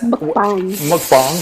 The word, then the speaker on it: mukbang: That's mukbang, thank you.